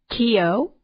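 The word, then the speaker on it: Cayo: All right, so the 5 that we didn't get to cover are Kio, and that is spelled C-A-Y-O, Belize, and this is how they pronounce them when we went to the websites or on the Internet.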